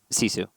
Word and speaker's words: GiFu: And for those of you unfamiliar with the team or the org, it is spelt GiFu and pronounced Sisu.